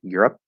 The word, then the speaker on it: Europe: very very brief moment europe again e is silent so by default the p is going to be stopped europe europe um adopt so here